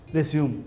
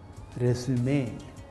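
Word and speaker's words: résumé: ஆனால் ஒன்றே ஒன்று ஞாபகத்தை வச்சுக்கணும், இது ரெசியூம் இல்லை. இதோட உச்சரிப்பு என்னது? ரெசுமே. இது இங்கிலீஷ் வேர்டே கிடையாது, ஃப்ரெஞ்சு வேர்டு.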